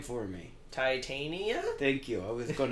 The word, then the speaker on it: Titania: Titania?